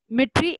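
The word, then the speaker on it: Dmitri: Fluid was given by मिट्री Ivanovsky, ठीक है, D silent रहता है, मिट्री इवानोव्स्की, इन्होंने दिया था 1892 में।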